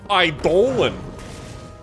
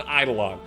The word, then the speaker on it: Eidolon: iore sounds dumb yeah it's like Idol it's not pronounced ion it's pronounced idolan oh it's an idolan